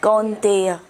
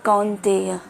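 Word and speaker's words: कौन्तेय: काउ, आओ। तेय, कौंतेय। कौंतेय, कुंती पुत्र कौंतेय। ठीक है, प्रैक्टिस चाहिए, एकदम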